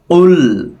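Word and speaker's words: قل: আইয়ুহাল কাফিরুন এ জায়গায় কু অনেকে কু পড়ে কু এরকম উল কুল দেখছেন আমার ঠোঁটটি গোল হয়ে আবার ছড়িয়ে যাচ্ছে তার মানে কফ মোটা হরফ লাম পাতলা এই কারণে ছড়িয়ে যায় কাফিরুন কুল ইয়া তিন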